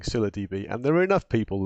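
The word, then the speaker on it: ScyllaDB: enough but we obviously have been you saying Scylla DB and there are enough people that were saying Scylla DB which to actually make me feel like we're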